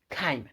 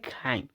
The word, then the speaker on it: chyme: And breaking down food into semi liquid form called chyme. Now it's interesting to pronunciate, that is the chyme.